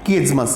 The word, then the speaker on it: chiasmus: आगे देखिएगा, किएज्मस, बहुत सारे लोग तो इसको सही तरीके से उच्चारण ही नहीं कर पाते हैं, इसका प्रोनाउंसिएशन ही ठीक से नहीं कर पाते हैं। तो इसका है किएज्मस, इसलिए मैंने इसका प्रोनाउंसिएशन भी यहाँ लिख दिया है।